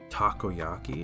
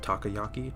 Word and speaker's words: takoyaki: And then, uh, we also got takoyaki. Is it takyaki? Takiyaki? How do you What is that? Dang it. Takoyaki, I believe, is what it's pronounced.